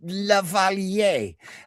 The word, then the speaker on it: lavalier: It's from the It's the Compish Lavalier. And it was a a piece of jewelry to start with. And I said, "It's a lavalier, Mike. That's how you say it."